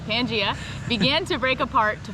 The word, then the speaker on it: Pangea: Pangea. All right, Pangea, began to break apart to form the separate continents that we see on Earth today.